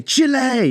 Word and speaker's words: Chile: Today we're going to be traveling to Chile in South America. Or Chile, I should say Chile. It looks like child. That's the thing, it looks like the word child.